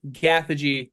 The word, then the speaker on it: Gathegi: Eddie Gathegi as Mr.